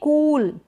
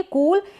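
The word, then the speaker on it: cool: लगी हुई होगी और इसको थोड़ा लॉन्ग प्रोनाउंस किया जाता है इसका साउंड जो होता है लॉन्ग होता है लंबा होता है जैसे की यह कूल कूल नहीं पड़ेंगे इसको पढ़ेंगे कूल क्या पढ़ेंगे कूल यानी सी का के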